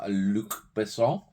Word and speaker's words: Luc Besson: Nikita, seen it years ago, don't remember much about it, so another one that's due a rewatch from Luc Besson. Spot on pronunciation there.